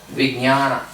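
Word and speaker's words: विज्ञान: Vijnana. Vijnana. Vijnana. Yeah. Vijnanamaya. You say jnana, jnana. So jnana, vijnana.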